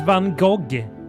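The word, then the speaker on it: Van Gogh: Vincent Van Go. That's how you say it properly.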